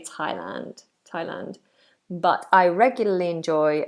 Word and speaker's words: Thailand: between the teeth but not with this particular word Thailand it's just a t t um teol is